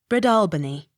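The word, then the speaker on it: Breadalbane: w bowls b-r-e-a-d-a-l-b-a-n-e bridal bany accent on second syllable b r o u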